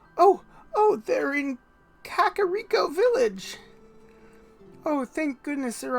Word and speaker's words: Kakariko: I've been, I have been telling myself that I grew up pronouncing Kakarakio Village wrong for a long time.